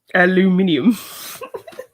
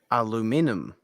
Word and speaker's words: aluminium: Aluminium. Laboratory. Morgan. Well, if I'm spelling it like that, Kimber, I'm saying aluminum. But there's another I that you're missing out after the N.